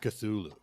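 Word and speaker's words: Cthulhu: the girl of cthulu is that how you pronounce that cthulu yes cthulu okay I I like the story of minky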